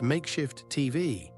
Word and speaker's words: MKSHF TV: Welcome to MKSHF TV, pronounced makeshift TV because vowels are a luxury in this economy.